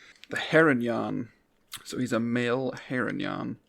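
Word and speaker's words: Harengon: guide i wanted to make sure i was pronouncing that right the heronyan so he's a male heronyan rabbit folk i'm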